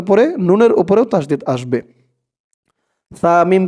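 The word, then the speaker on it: ثُمَّ: সা মিম পেশ সুম, মিম জবর মা, সুম্মা সুম্মা, র দাদ, র দাদ,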